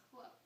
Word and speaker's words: Chloe: It's pronounced Chloe.